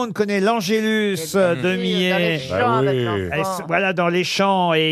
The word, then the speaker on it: Millet: met on prononce bien j'ai eu un doute à savoir est-ce qu'il fallait pas dire M car certains disent met par erreur mais il faut bien dire met le fameux angellus de